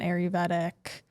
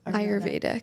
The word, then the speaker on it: Ayurvedic: a close friend who has like an Ayurvedic brand with like a bunch of different ritual oils, navel oils, things like that.